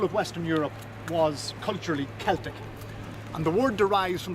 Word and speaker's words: Celtic: century ireland was a celtic society and that's pronounced celtic not celtic that's the football team from glasgow or the